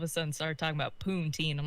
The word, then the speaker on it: poutine: Like this girl over here told me that I can get poutine here. Yeah. Then I can't pronounce it.